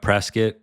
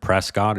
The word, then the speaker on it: Prescott: for a starting point next up we have Prescot definitely don't pronounce it Prescott You' be corrected by the locals they're pretty